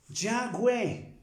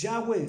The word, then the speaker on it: Yahweh: El nombre de él es en hebreo, Yahweh, Y-A-H-W-E, Yud Het Bat Hei sería Y-H-W-H, porque realmente no tiene vocales. Se pronuncia Yud Het Bat Hei, que es Yahweh.